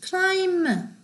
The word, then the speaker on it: climb: 자, climb, comb, thumb, bum 다 B가 발음이 안 되는 글씨들이죠.